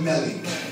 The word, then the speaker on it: Melly: She said to me today, the way you remember how my name is pronounced is Smelly Melly. You pronounce it Melly.